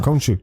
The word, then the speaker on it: Khonshu: I looked up how to pronounce it. So I'm good now. Khonshu.